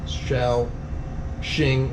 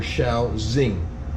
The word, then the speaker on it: Shaoxing: rather than SH ing shall Shing or shall Z the X being pronounced like a Z okay so that's also